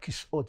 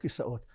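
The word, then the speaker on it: כיסאות: You know, we talked about this earlier, in Hebrew, the proper pronunciation of "chairs" is "kis'ot", not "kisaot", but we're so used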